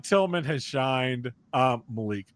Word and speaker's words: Malik: Malik Tillman has shined. Malik, let me correct that. He was Malik whenever he was in Europe. And then we got people reminded them that Americans pronounce that Malik.